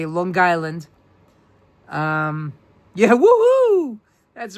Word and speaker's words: Long Island: Long Island. Notice I say Long Island, because that's the way we New Yorkers say it. Long Island. We connect the G to the word island.